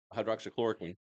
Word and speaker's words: hydroxychloroquine: when he was working in that bunker 8 stories underground, they decided they didn't like him because he kept saying hydroxychloroquine.